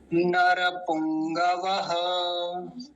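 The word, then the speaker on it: नरपुंगव: पुंग नर पुंग पुंग ग पूरा है तो ग को पूरा बोलेंगे पुंग पुंग नहीं पुंग ग को पूरा रखना है नर पुंग व ऐसा इसका उच्चारण होगा एक बार जल्दी जल्दी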